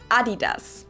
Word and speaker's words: Adidas: were referring to because they usually pronounce it Adidas and in Germany we say Adidas. Adidas. Adidas. Adidas. Super different.